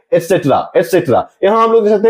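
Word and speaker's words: et cetera: तो हम लोग एक्स्ट्रा ना पढ़ करके एटसेट्रा यहां हम लोग देख सकते हैं इसका स्पेलिंग ETCETERA एटसेट्रा।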